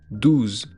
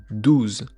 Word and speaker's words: douze: Donc le 12, ça se prononce de ou de ou de ou 12 12 Là encore, comme le 11, il y a un e à la fin mais qu'on ne prononce pas.